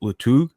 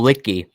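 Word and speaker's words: Luetge: you have in mind, I don't know how to pronounce his name, but Lutug. Oh, Litke. Lucas Litke.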